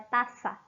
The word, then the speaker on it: taça: Pode ser pronunciado com o som de S, então eu pronuncio com o som do S. Então é taça, tranquilo?